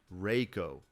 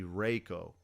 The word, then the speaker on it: Reiko: would be Reiko okay I know what you're thinking E.I should be I right that's not correct because if it's e i in German you do that like in Einstein or something like that that is when it's pronounced like that but if it is a Japanese name you would pronounce it a so E I would be a so it'd be Reiko so my thoughts are